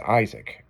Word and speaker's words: Isaac: nobody I really hate it when somebody doesn't pronounce my name right. Oh, I know. You know, it's Isaac.